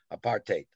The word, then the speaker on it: apartheid: african told me once it's pronounced like a part in hate apartheid and and not no